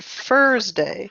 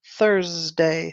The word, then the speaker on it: Thursday: uh-huh Thursday good now I heard earlier you said with a f sound you said Thursday so be careful with that word Thursday sorry Thursday uh-huh English